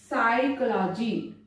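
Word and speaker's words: psychology: अब ये वर्ड है जो कि बहुत ही ज्यादा बच्चों को डिफिकल्ट लगता है, साइकोलॉजी पी साइलेंट रहेगा यहाँ पे, कबर्ड देखिए यहां पर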